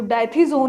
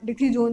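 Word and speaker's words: dithizone: वो जो डाइथीजोन है या आप डिथीजोन जो भी आप प्रोनाउंस करना चाहें, क्लोरोफॉर्म में जो होता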